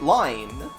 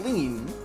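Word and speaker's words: Lynne: you for your name I was pronouncing it lime but then people told me to pronounce it like things like lean so that's what I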